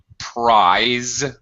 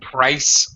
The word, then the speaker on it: prize: Prize, make sure you're hitting the Z. I couldn't tell if you said price or prize.